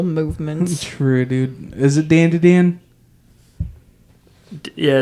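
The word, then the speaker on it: Dandadan: It's not pronounced like dawn to dawn. Until the dude corrected you and was wrong? Yeah, that's awesome. Insane. Typical liberal movements. True, dude. Is it Dan to Dan?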